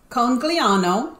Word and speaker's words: Conegliano: Okay, so Pam, help me pronounce this. You say the first one. Okay. Conegliano.